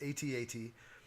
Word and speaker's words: AT-AT: and all these others, and you don't call those ATs. Just you don't say that. So I guess the proper pronunciation is AT-AT.